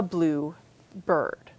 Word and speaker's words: bluebird: A bluebird as a particular kind of bird, a compound, the stress comes on the first syllable and it sounds like its own word, a bluebird.